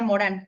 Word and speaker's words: Morin: Se escribe Morin, pero se pronuncia Morán.